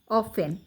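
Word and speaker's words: often: এফ টি ই এন অফেন জি ই টি gate অফেনে ওই যে টির উচ্চারণটা হবে না গেট সি ও এন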